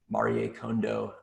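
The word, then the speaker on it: Marie Kondo: um you need to marie condo your marketing stack and yeah that's how you pronounce it i had to uh i was curious and had to look it up on reddit marie condo um so uh i've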